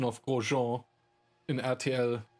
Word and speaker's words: Grosjean: But I won't top the pronunciation of Grosjean in RTL Groschen.